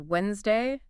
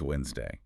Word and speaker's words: Wednesday: Somebody pronouncing it as Wednesday do you know where they're going wrong well we know that the D is silent it's Wednesday right that's right and